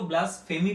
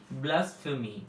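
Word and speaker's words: blasphemy: कुछ लोग इसको ब्लास्फेमी पढ़ते हैं, जो कि ब्लास्फेमी नहीं, ब्लास्फेमी। क्या हो गया? ये हो गया ब्लास, BLAS, ब्लास्फ।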